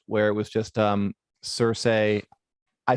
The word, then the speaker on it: Cersei: bit contentious even now some people say cersei but georgia martin always says cersei there's a great um meme i always liked where it was just um cersei i say cersei like